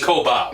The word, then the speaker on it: Koba: okay what the hell but the thing about Copa is he makes a great Koba but with a B they've been they they